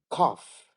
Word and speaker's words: cough: rhymes with Tough Enough cough cough off H I feel like